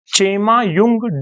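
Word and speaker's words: Chemayungdung: सी एच ई एम A Chema Y ओ वाई यू एन G Jung D यू एन जी डूंग Chema Jung Dang glacier से होता है जो तिब्बत में स्थित है।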